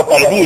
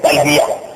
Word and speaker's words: تلبیہ: وہ تلبیہ نہیں ہے, یہ اردو لفظ نہیں ہے, یہ عربی لفظ ہے, اس کا تلفظ صحیح ہے تلبیہ.